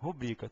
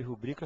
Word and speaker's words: rubrica: Ó presta atenção então certo é pudico avaro rubrica Tem que memorizar a prova cobra então pudico avaro e rubrica são as formas corretas tá essas três são as que você escuta mais frequentemente pronunciadas de forma equivocada até do pessoal da área médica mesmo tende a pronunciar essas palavras de forma equivocada e propagar o erro aí por todo mundo tá o certo ainda